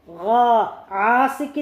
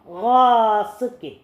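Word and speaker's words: غاسق: അപ്പോൾ വമിൻ ശർരി ഗാസിഖിൻ ആസിക്കിൻ എന്ന് പറയരുത്, ഗാസിക്കിൻ.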